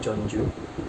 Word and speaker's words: Jeonju: Tulisannya kalau diromanisasikan itu apa, Jeonju, tapi bacanya Jeonju, pakai O tipis itu Jeonju.